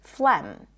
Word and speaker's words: phlegm: The G is not pronounced in many words that represent a vowel like thought and taught, but it's also not pronounced in the word phlegm.